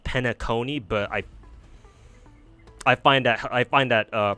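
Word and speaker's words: Penacony: I pronounce it Panakini with the stress on the A. I know people, it's supposed to be pronounced Penaconi, but I find that pronunciation to be fucking hilarious.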